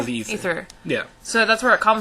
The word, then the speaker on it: Aether: Well, it's spelled aether, but it's said ether.